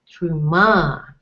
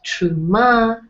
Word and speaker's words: Terumah: looking at this that it actually has three syllables tub room ma and the emphasis would be we would you guess it would be on the last syllable because it has a comet's which is a are strong are with a hey to add more emphasis so true ma turn